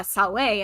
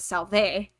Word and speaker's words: salve: kaisar instead of caesar it's uh salway instead of salve and it's stop that